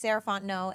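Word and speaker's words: Sarah Fontenot: again my name is sarant no and you can find me at Miz saraon no so Ms s a r a h fo o n t n o t the t is silent um that's me on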